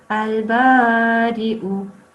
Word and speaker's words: البارئ: Yes, but this one does need to be prolonged for 2 seconds. Okay. البارئ. Al-Bari'u.